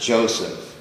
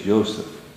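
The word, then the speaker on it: Yosef: of course not pronounced Joseph no it's Notre it's yoseph so what you have here this this is the ysph yes exactly as any Hebrew speaking person would pronounce it mhm so yoseph the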